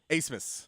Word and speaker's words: Abmas: Asmus. Asmus? Yep. Oh, yep. sorry about that. So, It is spelled Admus, but it's pronounced Asmus.